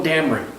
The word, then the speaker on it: Dameron: and Oscar said, the actor said, it's Poe Dameron.